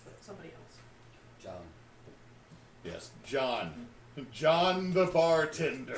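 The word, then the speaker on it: Djhon: Yes, John. John the bartender. Spelled D-J-H-O-N. Dijon. The John. D is silent. There's no Okay.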